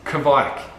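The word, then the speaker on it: kveik: What I want to suggest is Kvike yeast.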